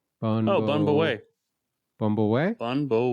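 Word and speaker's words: Bún bò Huế: I'm sending you this link, and again, I'm gonna screw up how to pronounce this. Bun Bo Hui. Bun Bo Wei.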